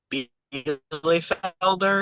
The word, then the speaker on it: Bielefelder: I think, if I'm hearing it, if I think that it's the correct one, I think the correct way to say it's Bielefelder or something like that.